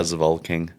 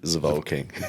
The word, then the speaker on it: Zevalking: Did I pronounce that correctly? Yeah, Zevalking. Yeah, Zevalking. No, just Zevalking.